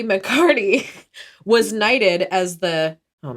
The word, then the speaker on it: McCarty: yeah mccarty yeah could also be pronounced mccarthy i saw both but even mccarthy i'm